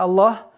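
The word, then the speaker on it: الله: Только в этом слове лафзул джаляля Аллах, только лям произносится твердо.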